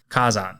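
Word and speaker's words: 火山: be the Japanese word for volcano volcano is Kazan Kazan is spelled k a z n and Kazan is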